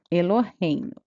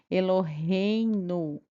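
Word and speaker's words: אלהינו: Então, o nome próprio do criador não é pronunciado, tá bom? Aí nós vamos para essa próxima palavra. E, lo, re, i, no. Eloheinu.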